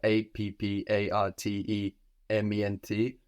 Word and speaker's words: appartement: Or we could have apartment, which is spelled slightly differently. We have A-P-P-A-R-T-E-M-E-N-T, appartement, appartement.